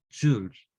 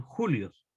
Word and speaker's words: joule: Joules. O joule en muy castellano dicen algunos. O también algunos le llaman julios. ¿Verdad? Pero lo correcto sería joules. Se escribe joule.